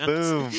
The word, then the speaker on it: KaBuM: Kabum. I don't know how to pronounce. Kaboom, man. Kaboom. Kabum. Oh, It's UM. man. Why wouldn't they spell it OOM if it was kaboom?